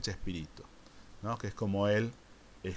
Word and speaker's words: Chespirito: y tú disminuido que después de haber castellanizado su pronunciación termina por convertirse en chespirito que es como él